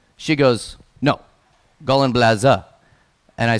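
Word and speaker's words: Gallenblase: said gall and blaze' and I said Oh Belen blazon she goes no golan blaze' and I said gone blazon she goes not blazing blazer I'm like what's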